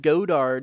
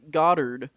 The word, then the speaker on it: Goddard: and then people like oh you said godard it's goddard and i'm like well